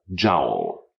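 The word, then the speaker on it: joule: for instance there is an energy unit called a jowl which is equal to 10 million ergs jow is spelled j u l e this unit is derived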